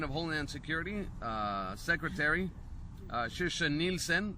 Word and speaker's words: Nielsen: Now, Department of Homeland Security Secretary Kirsten Nielsen, that's the correct pronunciation in Swedish, said they received intelligence